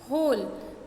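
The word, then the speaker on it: whole: Next is होल, है ना. इसमें भी हम W साइलेंट है, हम H को ही यूज़ कर रहे हैं.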